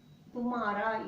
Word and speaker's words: तुम्हारा: Your க்கு तुम, Tumhara, you should, ha is silent.